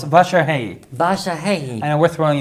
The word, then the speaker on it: Vasarhelyi: And did I say it wrong? Vasarhelyi. It was close. Vasarhelyi.